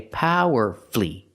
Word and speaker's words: powerfully: words powerfully and mercifully we see with these words we have two syllables before f l l y and the stress is on the first syllable so we do not pronounce the U powerfully not powerfully not powerfully not four syllables the U is silent so we say power flee because the stress is